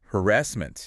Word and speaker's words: harassment: Harassment. And watch the stress. It's on the second syllable.